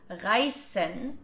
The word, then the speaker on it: reißen: Now if the voiced S sound becomes an unvoiced S sound like in reißen, it means to tear.